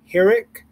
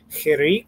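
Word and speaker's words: חיריק: you see a chirik, they might pronounce it more like hirik, and it makes more of an I sound, almost like an I instead of an E. I've heard Israelis say, an Israeli teacher said to say chirik, and that you have to kind of smile, and that's how you know you're saying it correctly.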